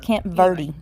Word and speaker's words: Camp Verde: where in Arizona um Camp Verde they actually pronounce it Camp Verde that's where that's where it is a little